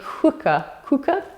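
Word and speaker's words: Quooker: So this is a cooker tap. I call it a cooker tap, but I don't think it's actually said like that, because it's spelled Q-U-O-O-K-E-R.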